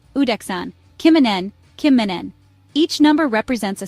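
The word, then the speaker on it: kymmenen: N kimin means 10 say Kim like the name say men like men at work but shorter then a soft n kimen 10 is a perfect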